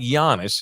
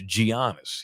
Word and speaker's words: Giannis: It's not like Giannis. It's spelled almost like Giannis, but it's Giannis. He pronounces the letters.